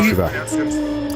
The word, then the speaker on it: Chevelle: I thought it was pronounced Chevrolet, like the car. No, it's always been Chevelle.